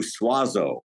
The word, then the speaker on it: Suozzo: going to say suazo I'm sure I messed it out that's exactly how my family has anglicized it if we were Italian